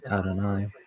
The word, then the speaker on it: Adonai: It's A, and then don, and then I. How's this one pronounced? Adonai.